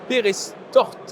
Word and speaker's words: Peyrestortes: Et on est avec Alain Dariot, maire de Perestorte. Est-ce que j'ai Voilà, bien dit? vous avez bien prononcé, c'est Ah voilà, Perestorte, Perestorte.